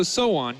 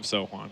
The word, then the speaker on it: Sohwan: So Sohwan, you don't pronounce the H, as I found out after not doing that for an entire cast and calling him Sohwan. Learned that one the hard way.